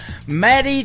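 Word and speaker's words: Madye: That is a brand new single from Maddie True. It is M A D Y E on her first name and True is spelled T R E W. Matty True.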